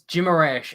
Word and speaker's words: Guimarães: I mean, it's Guimarães, and I can't even remember where I heard that, but I'm fairly confident that is how you would pronounce it.